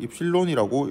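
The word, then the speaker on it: ε: 발음은 입실론이라고 읽습니다.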